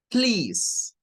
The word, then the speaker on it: please: a la siguiente palabra please es de una sola sílaba Ahí es donde como como hispanohablantes nos perdemos vea porque decimos pero mire ahí que no dice please Ay para mí ahí dice please Bueno aquí hay varias